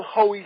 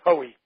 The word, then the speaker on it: Haughey: So you spell it Haughey. And I was not certain how to spell it until this quest that I was on this week to try to find the Brooklyn Dodgers version of Moonlight Graham. But it is Haughey. And pronounced Hoey.